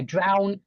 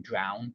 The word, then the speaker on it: drown: or something but yeah drown rhymes with clown IT rhymes with clown drown yeah drown drowning uh